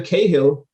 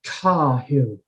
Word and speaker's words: Cahill: name outside of ireland because it's either cahill or like a really strong over pronunciation of the character i want to get it right it's car hill and yeah you got